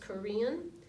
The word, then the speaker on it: Karen: they're called the Korean it looks like Karen doesn't it kar en but it's pronounced Korean and the chin yeah